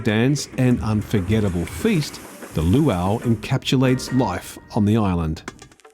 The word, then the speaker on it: luau: Am I saying it right? Luho. Luau. Lu. That sounds so much better when you do it.